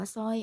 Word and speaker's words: สร้อย: เนี่ย ตัว เรา นี้ ส่วน ตัว ที่ 2 เนี่ย เรา เรือ ไม่ อ่าน นะ คะ ไม่ อาจ จะ ร่อย ไม่ อาจ จะ หลวง นะ คะ อ่าน ว่า สร้อย อ่าน สรวง นะ คะ อ่าน แค่ ตัว ที่